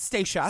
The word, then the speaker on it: Stacia: Everybody says her name wrong. Yeah. It's pronounced Stacia. Stacia.